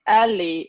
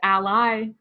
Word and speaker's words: a11y: Is it acceptable? I think yes. I've heard my boss calls it ALI. I always read it as ally because it's an acronym.